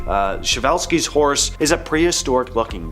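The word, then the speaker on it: Przewalski: So, pronounce something like Shavevelski. Uh, Shiovelski's horse is a prehistoric looking beast that once roamed the steps of Central Asia.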